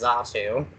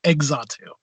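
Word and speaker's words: Xatu: list but of course we all know it's a sue right he's a - but I've heard I've heard a couple people say eggs on - and that bothers Oh crystal guess who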